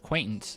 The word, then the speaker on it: Quaintance: Quaintance. I thought it was acquaintance. I thought you I heard you say it different. Yeah, like uh like an acquaintance.